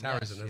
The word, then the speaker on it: Sarrazin: Yeah, with Michael Jared, I can't Michael pronounce his name. Sarrazin. Sarrazin, yes, that's it.